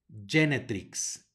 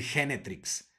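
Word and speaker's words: genetrix: en la jaculatoria tenemos la letra g seguida de una e va a sonar como Y genetics genetics no van a decir Génesis luego en el siguiente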